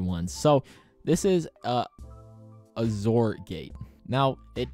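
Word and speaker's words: XOR gate: so this is a azor gate now it it's pronounced like z o r it's not shor gate it's a zorgate so this is a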